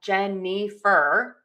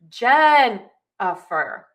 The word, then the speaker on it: Jennifer: My name is not Jennifer, with all of the syllables being given the same timing and the same weight. It's Jennifer. So Jen gets the most weight, gets the least, and then fur gets the middle length or the middle weight with those.